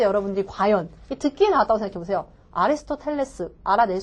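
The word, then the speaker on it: Aristotle: 이게 영어식 발음은요. 에러스타르예요. 에러스타르. 너무 굴렸나요? 근데 이렇게 굴려요, 원어민은. 에러스타르 이렇게 했을 때 여러분들이 과연 듣기에 나왔다고 생각해보세요. 아리스토텔레스 알아낼 수 있을까요?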